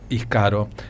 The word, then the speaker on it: Íscaro: de la política argentina, Íscaro en este caso, y como Ícaro, para pronunciarlo.